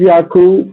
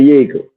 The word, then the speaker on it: Yakub: It's Yakub. That's the correct way to say it. But Okay. They say, New Orleans, they say Yakel. A lot of my people say Yakel.